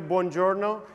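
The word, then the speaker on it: buongiorno: correctly can you help me please all together bonjourno when I say three two one bjo was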